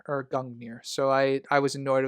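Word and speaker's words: Gungnir: the in the the vein of Kraken, they mispronounced Grung Gangmir the spear. Annoyed the out of me. Yeah, no. Yeah, it's it's been it's it's been pronounced Gungir or Gungir.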